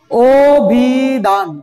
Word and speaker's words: অভিধান: অভিধান, কি উচ্চারণ করছি আমরা, এখানে কি আছে, অ না, দেখতে পাচ্ছ অ আছে কিনা?